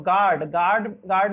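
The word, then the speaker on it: guard: और गार्ड means चौकीदार होता है, चौकीदार में भी आपका यू को साइलेंट रखा गया है।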